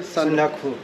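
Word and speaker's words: Sandakphu: It's going to be trekking all the way to, how do you pronounce this, brother? Sandakpo, which is 3,636 meters.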